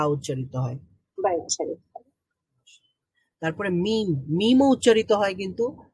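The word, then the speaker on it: م: তাহলে মিম আমরা কিভাবে উচ্চারণ করব? এটা উচ্চারিত হবে, হ্যাঁ, দুইটা ঠোঁট যখন আমরা বন্ধ রেখে একটু বন্ধ রেখে তারপরে খুলে ফেলবো এবং সাউন্ড বের হবে নাক দিয়ে, তখন মিম উচ্চারিত হবে।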